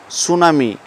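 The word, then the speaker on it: tsunami: the correctly spelling word সুনামি টি এস ইউ এন এম আই সুনামি সুনামি শব্দের টি একটা silent word আমরা যদি আমার যদি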